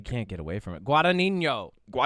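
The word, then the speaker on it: Guadagnino: Guadinho.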